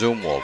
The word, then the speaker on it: Zumwalt: Heard it pronounced Zumwalt, Zumwalt. I think it's Zumwalt. I think that's what the official scorer told me.